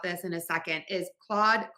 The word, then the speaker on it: Claude: Number two, most popular, and I'm gonna talk more about this in a second, is Claude, Claude, Claude, and Claude. These are homophones. Again, four spellings, same pronunciation, and four very different meanings.